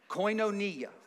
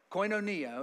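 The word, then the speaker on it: κοινωνία: that that's used there for Fellowship right it's coinonia last week I had to use my app to tell you the thing but I've had a revelation on how to say it this week coinonia okay coinonia and again we talked about this a little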